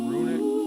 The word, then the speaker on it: runic: pronounced runic, like run it.